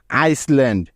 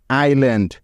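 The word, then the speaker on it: island: এরপরে এল আছে তাই এস বর্ণটি এখানে সাইলেন্ট আছে বা উচ্চারণ হচ্ছে না বোঝা গেল এবার চলো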